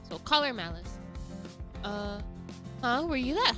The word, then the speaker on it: Collar X Malice: Collar X Malice. Actually, it's just caller Malice. I keep forgetting that you're not supposed to pronounce the name of the the like the X in the name.